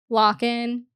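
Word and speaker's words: Lochan: I'm mispronounced I know I heard them say so it's locked so like like a lock so I always think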